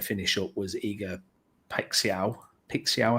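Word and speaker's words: Paixão: Paixao, I think is how you pronounce it. Paixao. That's what I'm saying. Yeah, we'll go with that.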